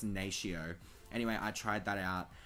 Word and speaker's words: Natio: It is the Natio translucent powder. I think that's how you say it. Natio or Nato. I'm pretty sure it's Natio.